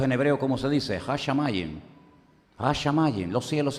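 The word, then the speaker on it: הַשָּׁמַיִם: Hashamayim.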